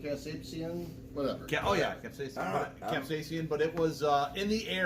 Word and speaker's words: capsaicin: How do you pronounce it? Casapian? The Casapian. Yeah, the the- Casapian. the whatever it is. It's Something like Casapian, whatever. oh yeah, capsaicin.